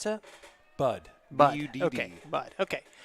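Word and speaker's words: Budd: Bryce, how did you pronounce that? Bud.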